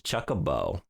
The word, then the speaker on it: Chocobo: But you mispronounced it. It's chocobo.